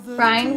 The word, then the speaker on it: Bryan: Bryan, which rhymes with lion, failed to gain support